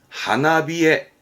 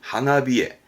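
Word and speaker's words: 花冷え: 쌀쌀한게 히에르 그래서 요렇게 씁니다 앞에 꽃이 붙었죠 발음은 하나비에 하나비에 하면 꽃이 쌀쌀한 거 그렇습니다 꽃이 필 무렵 쌀쌀함이 오는 내 꽃샘추위 우리는 꽃샘추위를 니혼고 대화 일본어에서는 하나비에 하나비에라고 표현합니다 뒤에 증상의 증자가 보입니다 증상의 증자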